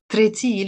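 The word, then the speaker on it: تراتيل: So I wrote taratil, tretil, we pronounce it in the Lebanese dialect, in the plural.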